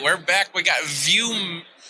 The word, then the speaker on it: ViewMagine: We got ViewMagine. Right. That's how you pronounce it.